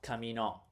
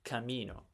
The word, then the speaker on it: camino: It's not camino or camino. It's camino.